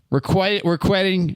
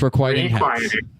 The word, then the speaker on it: Requiting Hex: Requitting. Requiting. You've never pronounced it the same way twice. I I have notitting Never have you requiting hex. You can't do it. It's requiting hex.